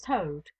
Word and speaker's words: Tode: "Ay me, Sir Thomas Tode." He pronounced the word as though it had been the name of the foul beast that squats on its belly.